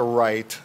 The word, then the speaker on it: REIT: Explain to people what an REIT is, what we'll call it a right. That's how I would pronounce it.